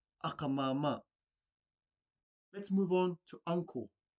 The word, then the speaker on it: akamama: Auntie in the Cook Islands Māori language is akamama. This is made up of two words. The first word being aka, this is spelled A-K-A. Repeat after me. Aka, aka. And the second word is mama, spelled M-A-M-A. Repeat after me. Mama, mama. Put these words together, you have akamama, akamama.